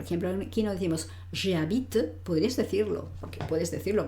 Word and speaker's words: habite: Lo que sí tengo que pronunciar claramente, no tengas miedo, a veces la gente no sabe muy bien cómo pronunciar, no, es habite, habite. Yo hago, ¿qué pasa? Que no pronuncio una T, pronuncio el sonido T, habite.